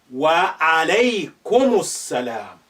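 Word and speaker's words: وعليكم السلام: Now, this alif is not at the beginning anymore. Therefore, it's now silent. And the lam is also silent for different reason. Because this is saying is sun letter. It's carrying shadda.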